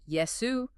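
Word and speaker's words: 예수: It notes that Jesus' name in Korean, Yesu, sounds like the word yes.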